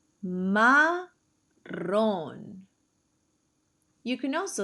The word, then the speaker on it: Marrón: Don't forget to double your R. Marrón.